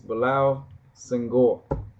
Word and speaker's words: Bilal Senghor: I'm Bilal Senghor, This and is uh, the video response to Freckles. yeah, it's my homegirl Freckles. She pronounced my name all wrong, but don't worry about it. It's Bilal Senghor.